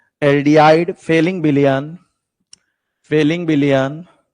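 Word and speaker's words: Fehling: Aldehyde फेलिंग विलयन, फेलिंग विलयन, फेलिंग APH ये जो है एच साइलेंट इसमें रहता है।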